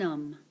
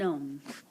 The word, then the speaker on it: homme: Un homme. Un homme. This H is silent. Un homme.